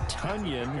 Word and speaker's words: Tonyan: so that catch by robert tunyan as in rhymes with onion the packers pr department